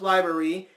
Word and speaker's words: LBRY: are now on library which is lb ry pronounced library and yeah it's a